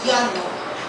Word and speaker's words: jano: cosa, y es que la palabra escrita igual, pero pronunciado Jano en finés, significa sed.